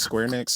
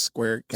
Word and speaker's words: Square Enix: How do you pronounce this? Square Next. Square Enix.